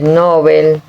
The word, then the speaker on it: Nobel: Alfred Nobel con acento en la E y no en la O, creó el premio en